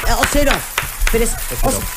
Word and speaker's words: Oseroff: Orsef, bienvenido. No, ¿cómo se pronuncia? Oseroff.